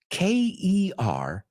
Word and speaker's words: kernel: And the second word, Kernel. So when you get to the bottom of the popcorn, you'll have kernels. ¿Qué? ¿Coroneles? Well, no, they're pronounced exactly the same.